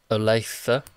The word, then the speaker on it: Olathe: Adventure when they're scared so that this is Olathe did I say that right yes yes he